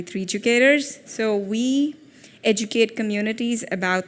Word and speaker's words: 3DUcators: I know it's very hard to pronounce, 3D Educators, or it's actually 3DUcators.